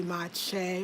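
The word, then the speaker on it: maakye: repre the sound of the kye is ch ch ch so the m a a ma ma right because you see the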